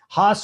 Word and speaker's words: Haas: Haas rhymes with Voss.